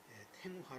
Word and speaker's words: 탱화: 정 잘하고 있지 나는 불교에서는 탱화 라고 발음을 한다는 것 아시겠죠 또 신 중간에는